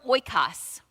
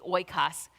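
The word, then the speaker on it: οἶκος: Some people, you could say oikos, but I think the pronunciation in the biblical Greek would be oikos.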